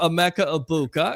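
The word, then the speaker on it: Emeka Egbuka: A Mecca Ibuka.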